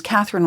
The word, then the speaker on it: Catherine: Like my name's Catherine with an E on the end, but the E is silent, but quite often they pronounce the E.